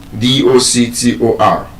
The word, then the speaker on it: doctor: D O C T O R. That word is a noun. And being a noun, the stress is on the first syllable, doc- -tor.